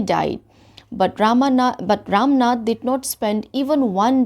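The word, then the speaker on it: Ramanath: नाथा है कि नहीं लेकिन हम इसको प्रोनाउंस कैसे करेंगे रामनाथ जैसे इंग्लिश में जैसे भगवान राम को भी हम रामा लिखते हैं ना तो ऐसे ही इंग्लिश में ए लग जाता है ठीक है अगर आप लिखते हो तो आपको ए लगाना पड़ेगा अगर आपने ए नहीं लिखा तो आपका स्पेलिंग एरर हो जाएगा यहां पे लेकिन प्रोनाउंस हम इसको कैसे करेंगे रामनाथ बोलके प्रोनाउंस करेंगे ठीक है तो स्टार्ट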